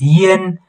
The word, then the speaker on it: ian: So when you read them together, you are supposed to pronounce them as yen, yen.